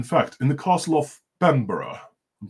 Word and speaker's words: Bebbanburg: And, in fact, in the castle of Bemborough, I'm pronouncing it right, yes. Bebbanburg in yes, Old English.